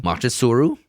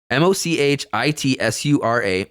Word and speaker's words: Mochitsura: Machitsuru? No, that's not what. Mochitsura.